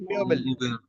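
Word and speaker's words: Möbel: उमलाउट के साथ जब ये रहता है तो ईओ की तरह बिहेव करता है, म्योबेल, म्योबेल। देखिए जब ओ उमलाउट के साथ आएगा तो ईओ की तरह हो जाएगा, म्योबेल, म्योबेल।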